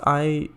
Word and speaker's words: IU1: Same time, IU1? Pronounced IOU1.